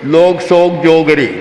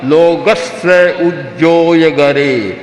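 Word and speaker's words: लोगस्स उज्जोयगरे: उच्चारण क्या करते थे, लोगस का उच्चारण करते थे, लोग सोग जोगरे, बस ये उच्चारण था बंधा हुआ, लोग सोग जोगरे, ये एक का नहीं था, हजारों का यही उच्चारण था। आज कोई छोटा बच्चा भी बोलेगा लोगस्य उज्जोय गरे धम्म तिष्ठ यरे जिने अरहंते चित्तई सम चौवी संपि केवली। शुद्ध उच्चारण करेगा।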